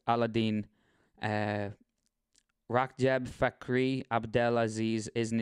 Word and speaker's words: Ala El-Din: Ali Abdelaziz, alternately spelled Abdelaziz, whose real name is Ala El-Din, pronounced Aladdin.